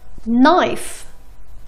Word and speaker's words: knife: ولكن استمعوا لهالكلمتين. knife. no. حرف الكي ما نطقني.